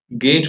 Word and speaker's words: gauge: तो गेज pressure की बात करें गेज प्रेशर ये टर्म बहुत इंपॉर्टेंट है बच्चों. कई लोग इसको रॉन्गली प्रोनाउंस करते हैं. गेज को पढ़ते हैं गॉज जो कि गलत है.